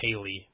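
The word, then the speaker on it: Kayle: see what she thought and she went with kale um I've heard some people say Kaley but I'm gonna go with kale and that was a ramble that nobody needed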